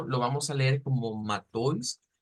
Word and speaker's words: Matthäus: Ya habíamos explicado que esto lo vamos a leer como Matthäus, aunque también se puede leer como Mateus, pero vamos a apuntarle más a la pronunciación estándar y lo vamos a decir como Matthäus, Matthäus.